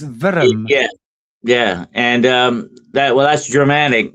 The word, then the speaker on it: Wurm: That's spelled WURM, worm. But but what they're talking about is a serpent type thing. Yeah. That's how you pronounce it, Dennis. Virm.